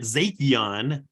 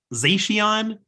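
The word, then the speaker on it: Zacian: did um about the I call it zatheon but he was saying zacion like the um the new uh Crown Zenith collection box that came out so maybe maybe I just mispronounced every single Pokemon wait ah now I can't even yeah that's how you say it right I've always said zakian no oh my God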